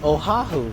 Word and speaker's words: Oahu: No, it's Oahu.